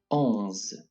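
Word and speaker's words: onze: pronounced as an s ohms once again alms it is the same pronunciation as in english when wanting to say on but without actually pronouncing the n so we would say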